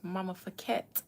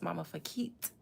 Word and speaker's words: Mama Fakit: You guys, I've been calling Tierra Mama Fakette, and her name is Mama Fakit. Yes, it's got a little wee to it.